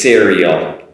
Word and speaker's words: cereal: But be careful not to use a she sound. That's been done before. Try not to do that. Cereal, cereal. Also at the L, at the end is the L sound, no vowel sound after that.